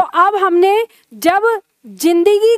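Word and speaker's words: ज़िंदगी: लगा दें तो ये इसका उच्चारण हम ऐसे ही बोलेंगे जैसा कि उर्दू भाषा में बोला जाता है, ये ज नहीं फिर ज बोला जाएगा। तो अब हमने जब जिंदगी को लिखा तो उसमें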